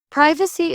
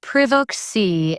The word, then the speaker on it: privacy: Privacy is pronounced privacy in British English, not privacy. The short I sound makes it feel more reserved.